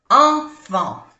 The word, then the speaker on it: enfants: Enfant. No se pronuncia ni la T ni la S. Enfant.